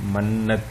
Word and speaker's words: منت: اور اگلا لفظ ہے منت، منت آپ کے سامنے ہے، یہ اس کا تلفظ بھی لکھا ہوا ہے بریکٹ میں، منت۔ ہم کہتے ہیں کہ